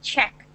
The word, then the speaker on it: Czech: because I'm I'm not too sure it's it's pronounced Czech so Czech Republic and its capital is Prague